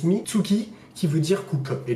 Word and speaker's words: Mitsuki: chinois donc c'est le serpent et qui se prononce mizuki qui veut dire cook et du coup en